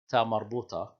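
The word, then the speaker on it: تاء مربوطة: we call this one ta marbuta. It's pronounced as a regular ta when you continue to speak, and it's pronounced as an H when you stop.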